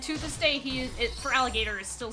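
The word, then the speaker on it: Feraligatr: So they just removed the O in gator and it still sound it's still pronounced for alligator but it's it ends with g a t r.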